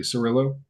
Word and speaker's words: Cirillo: We are here with author Cerillo. How are you sir? I'm pretty good. How about yourself? Very well. And did I pronounce that correctly? Cerillo.